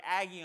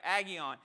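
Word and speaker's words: ἅγιον: word there is the the best pronunciation would be like agion all right aggie on and that word right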